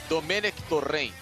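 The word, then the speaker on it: Domènec Torrent: check-in a comer ektor em é assim a pronúncia correta tomei mac-torrent porém é eu aceito a bruxa circunflexo em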